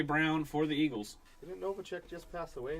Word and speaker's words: Novacek: Greats for the Cowboys, Jay Novak. Is that how you say his name, Chad? Jay Novak? Your third one today? Novacek? Novacek Novacek.